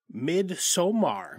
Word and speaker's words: Midsommar: So we covered Midsommar, I believe is how it's actually pronounced, which is an R-rated 2019 horror mystery